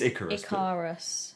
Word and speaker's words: Icarus: a pocket okay okay hey career so that's not how you say it i can't remember properly it's ik a-r-u-s it's icarus yeah whatever i don't know